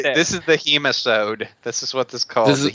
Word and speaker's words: Hemisode: Hemisode rhymes with nematode.